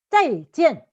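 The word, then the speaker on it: 再见: 하는 거예요 자 이지요 짜이찌엔 잘가란 소리는 잘 갈 자가 자이기에 한번 해 보세요 앞을 좀 세게 발음하고 뒤로 좀 약간 연하게 야 자 이제 4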